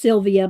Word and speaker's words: Sylwia: Or it might be pronounced Sylvia, but she spells it with a w i a.